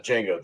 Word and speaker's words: Django: and Django says uh Django the D is silent Franko never goes yes